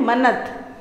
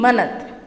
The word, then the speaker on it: manat: और इसकी जो करेंसी है वो है मनत। मनत बोलेंगे इसको, MANAT, मनत।